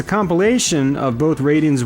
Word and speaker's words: Raiden: fans and, you know, prefer to say things the Japanese way. And, yeah, technically, Raiden is pronounced Raiden, which I believe stands for thunder and lightning.